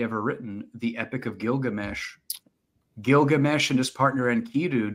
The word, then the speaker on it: Gilgamesh: a world history class my school teacher pronounced Gilgamesh gigamesh oh and from that